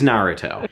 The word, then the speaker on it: Naruto: And then we also have an E3 demo, May 2006, of, how do you pronounce it? Naruto. Naruto. It is Naruto.